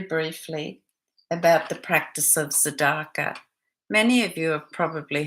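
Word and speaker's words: tzedakah: to talk very briefly about the practice of sadaka many of you have probably heard of it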